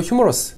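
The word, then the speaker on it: humerus: 상완골은 영어로 휴머러스, 유머러스한 그 유머러스도 발음이 거의 비슷합니다.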